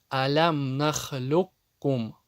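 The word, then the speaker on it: أَلَمْ نَخْلُقكُّم: И когда ков встречается с кяф. Пример. Алям нахлюкум. Ков не произносится, она превращается в букву кяф.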